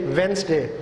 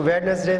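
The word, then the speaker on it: Wednesday: उसके बाद बुध है ये वेंसडे, हम इसको वेडनेसडे पढ़ते हैं, ये वेंसडे है, इसमें जो है वो डी साइलेंट है वेंसडे, और ये इसलिए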